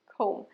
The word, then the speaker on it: comb: comb. Beta silent, comb. চিরুনি ইংরেজিও comb, চুল আঁচড়ানো ইংরেজিও comb.